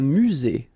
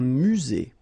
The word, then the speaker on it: musée: aire de stationnement un musée final e not pronounced un musée un immeuble so you